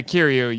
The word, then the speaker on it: Kiryu: When I first watched this film, like, why they call him Kiryu? And I hope I'm saying it right. Yeah, Kiryu.